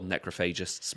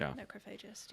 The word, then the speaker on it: Necrophagist: i don't know like is it necrophagist or necrophagist all right so i've i've went between numerous pronunciations over the years i've heard more people say necrophages than anything else so that's what i'm sticking with it's like it's you say necropolis you don't say necropolis yeah necrophogest sounds quite